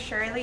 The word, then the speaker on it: Shirley: saying we have your name and have you spell it my name is shirley s-h-i-r-l-e-y i'm and your title